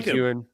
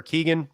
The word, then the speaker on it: Keoghan: Taking Barry Keoghan or Keegan. How do you pronounce his name? I think it's Keoghan.